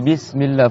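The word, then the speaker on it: بسم الله: Là, faut faire attention. Au début, il y a une shadda, une lettre doublée. C'est pas Bismillah, c'est Bismillah. Tu vois? Allah. Tu fais deux L.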